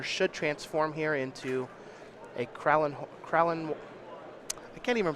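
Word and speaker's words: Krallenhorde: His Duskwatch Recruiter should transform here into a Kralin I can't even pronounce that word. It's Kralin Horde Howler.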